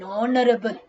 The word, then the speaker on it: honorable: other an honorable person honorable so h again is a silent quarter then again there